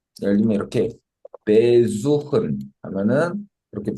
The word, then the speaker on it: besuchen: 어, 예를 들면 이렇게 besuchen 하면은 이렇게 besuchen 이렇게 하면은 어 애초에 발음 자체도 어 전철에다 강세가 있는 게 아니고 suchen 원래 동사에 강세가 오고요.